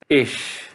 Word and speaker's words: ich: CH se prononce ich après les lettres I, E, A umlaut, O umlaut, U umlaut, Epsilon, Oi, Oi, R, L, N et toutes les autres consonnes. Exemple, patch, qui veut dire malchance.